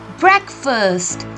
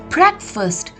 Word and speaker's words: breakfast: called it is a breakfast the first thing you have in the morning uh breakfast not a break fast yes breakfast is a mispronounced word it is called a